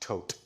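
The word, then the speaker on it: Thoth: Would you like to speak about the hall of records or the th um there was a temple of the th priests that were recently discovered? Yes, that's pronounced tote.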